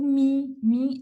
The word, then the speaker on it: mim: Os pronomes oblíquos tônicos, que é o mim, é M-I-M, tá?